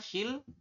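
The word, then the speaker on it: 신랑: Yang ini tulisannya shinrang, tapi dibacanya adalah shillang.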